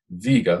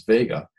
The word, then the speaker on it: Vega: point near this bright star viga which you can also pronounce his Vega Vega Vega in the constellation of